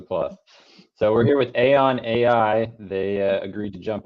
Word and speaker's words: Aeon: And we are here today with we decided it's pronounced Aeon, right? That's how I say it. That's right, yes. Okay, good. Always a plus. So we're here with Aeon AI.